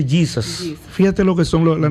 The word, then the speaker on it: Jesus: de Jesús, porque Jesús, que en inglés se escribe igual, pero se pronuncia Jesus.